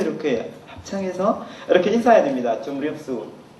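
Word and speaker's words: ជំរាបសួរ: 예, 이거는 두 가지 있는데, 원래 좀 중간에 미음 나오는 이유는 이렇게 틀려서 나오는 것이 아니라 그 발음을 잘 되도록 하기 위해서 이렇게 그 미음을 붙이는 겁니다. 줌립수하고 수스의 차이는 반말하고 존댓말 차이가 아닙니다.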